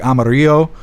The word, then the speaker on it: Amarillo: It's Amarillo, but in Spanish, Amarillo is is spoke like Amaro and Amaro is how you say yellow in Spanish.